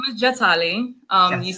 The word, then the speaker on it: Jatali: My name is Jatali.